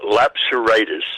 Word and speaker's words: Lapseritis: ask you this first Kiwani how do you pronounce your last name uh lapseritis lapseritis I said it wrong and you've told me